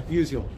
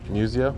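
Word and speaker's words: Musial: Lieutenant Museio. I'm sorry. Musio. Museio. Yes.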